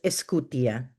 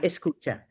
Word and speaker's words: Escutia: And by the way, my last name is pronounced Escutia, not Escucha, Escutia.